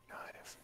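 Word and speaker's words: Gaev: Wow, that's a way to spell that. G-A-E-V. Gaive.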